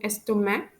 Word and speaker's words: estomac: en pour et en estomac, which means the letter C is not pronounced in pork and in stomach. So when I pronounce these two words, pour and estomac, you can hear that I don't pronounce the letter C. We don't pronounce it as pores and stomach. We pronounce it as pour, stomach, because C is a silent letter according to the French language.